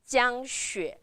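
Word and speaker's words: 江雪: Remember the first tone I told you and xue. x u e xue. Third tone, so you're going down and up. Down and up. Jiang Xue.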